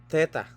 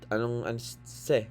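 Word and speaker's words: θῆτα: Yung ibang yung professor ko kasi sa Dallas, ang bigkas niyan hindi TH th. Siguro dahil sa Korean Korean accent. Se, parang ang diyan se, hindi niya mabanggit yung TH se.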